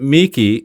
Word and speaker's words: Meeke: And so then I learned that you pronounce it Meeke, and I think that's appropriate because you're anything if you're not meek at all.